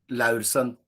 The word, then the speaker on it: Laursen: how do you say your name properly yes Larson so yep yep yes okay that was pretty